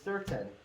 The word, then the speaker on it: certain: I can see why you would think it was ON, because it sounds like that, right? Certain. But it's certain spelled like mountain. Looks like certain. Mountain. But that's not how we say it, right?